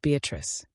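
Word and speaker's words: Beatrice: Note Beatatrice. I use this word as it is pronounced in the Italian as consisting of four syllables of which the third is a long one.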